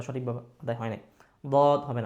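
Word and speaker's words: ض: কিন্তু ভুল, মাখরাজ বা সঠিকভাবে আদায় হয় নাই, দদ হবে না।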